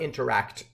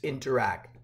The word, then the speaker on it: Interac: It's not interact, it's interact, just saying.